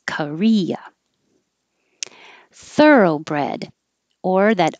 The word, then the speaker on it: Korea: which is similar to korea with three syllables korea thoroughbred or that o